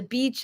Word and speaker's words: beach: that way think o I love the beach the beach is a happy place so Beach smile that's my tip for pronouncing Beach Laura did you do